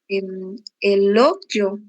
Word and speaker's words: elogio: Elogio. Novamente. Elogio. Isso, quase isso. Veja a nossa sílaba tônica amarela, G, certo?